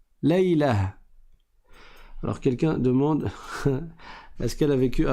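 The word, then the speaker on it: ليلة: Par contre, si tu t'arrêtes dessus, tu ne dis pas Laylatu ou Laylatun, tu dis Laylah. Laylah.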